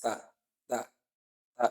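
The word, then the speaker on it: ت: Ta is not from Huruf al-Hams, and that's one of the mistakes that people make when pronouncing that. They pronounce it as if they are pronouncing an alphabet which is among the Huruf al-Hams, and that's not correct. The Wizu, You hear a kind of whispering when they are pronouncing. Is it te, te, or te? No, it's not te. It's ta, ta, ta, not te.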